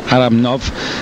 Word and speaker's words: Aramnau: actually Andre Aram nov uh my apologies for mispronouncing his name early on but it's Aram nov 19 years of age Junior world champion ain't